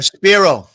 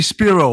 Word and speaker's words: Spiro: one tommy what story a sparrow anthony spiro i'm sorry i pronounced it wrong yeah it's kind of